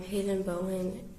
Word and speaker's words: Hayden Bowen: So we're going to start with if you could just tell everybody your name and then also how to spell it. Um Hayden Bowen.